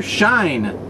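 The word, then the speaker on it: Scheine: Because his first name really is Rainer, that's R-A-Y-N-O-R, I think, his last name, he has it spelled like it was German, so it's S-C-H-E-I-N-E, I think. Rainer Shine, come on, that's a great joke, isn't it?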